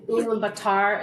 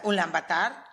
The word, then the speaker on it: Ulaanbaatar: in Ulaanbaatar. Is that how the capital is pronounced? Yeah, So we have, Ulaanbaatar.